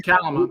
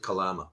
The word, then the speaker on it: Kalama: A family found money on the beach in Kalama. We locals out here pronounce it Kalama. Kalama. Okay, there we go. Kalama. Thank you. like a calamity.